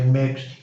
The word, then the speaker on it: mixed: And you're adding an ED to the end of it, but you're not pronouncing E, and the D you're pronouncing as a T.